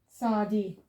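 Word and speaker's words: צ: And then the last one is sadi, which we haven't long done. Sounds as ts.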